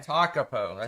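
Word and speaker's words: Tekapo: T-A-U-P-O, but the way you pronounce it's a little bit. Hold on. It is that one. Takapo. Yeah, Lake okay. Takapo. Takapo, that's the one.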